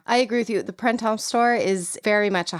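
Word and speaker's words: Printemps: I do know is you do not really pronounce the P or the S. So, like you don't say like it's not Prints.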